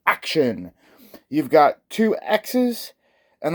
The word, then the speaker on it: Axxion: I know it's spelled Axxion, that's how I always say it, but it's actually supposed to be pronounced Action.